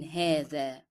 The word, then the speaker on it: هذا: And don't forget to bring out the tip of the tongue as you are pronouncing the in هذا.